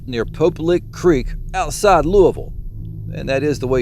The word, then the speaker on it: Louisville: According to legend, this bizarre creature lurks near Pope Lake Creek outside Louisville, and that is the way you pronounce it.